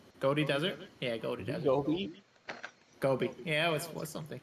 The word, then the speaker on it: Gobi: I don't know how to pronounce it. The Godi Desert. Yeah, Godi Desert. Gobi.